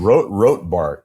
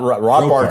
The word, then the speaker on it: Robbart: Robbart. Not Robart sounds too much like Ratart. So, Robart.